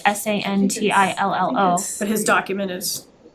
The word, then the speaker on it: Santillo: then I would make a motion to appoint Christian Santillo to our communication advisory committee. Second, Thank you. And just, I think for the record, it's Cantillo, or is it Santillo?